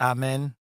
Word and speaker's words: Amen: differently there say it again for us please amen oh okay I was saying it right there